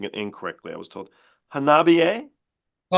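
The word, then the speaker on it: Hanabie.: I'm hoping to pronounce the name of this band correctly because I was pronouncing it incorrectly. I was told Hanabiye? Oh, Hanabiye.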